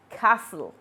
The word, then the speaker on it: castle: And the last one is T in fasten, gourmet, listen, and castle. In all these words, the silent letters are highlighted in red.